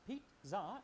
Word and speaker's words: pizza: Pizza, pronounced pizza, is an Italian pie with a savory filling, usually made of sausage or anchovies and cheese.